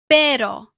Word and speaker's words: pero: A single R between vowels is usually soft. For example, pero.